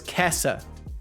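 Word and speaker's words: Käse: Or so it's Kessa. Kessa. If you do the E as well, remember almost nothing in German is silent.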